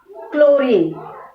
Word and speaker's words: chlorine: Second one, chlorine. K. chlorine. Chlorine.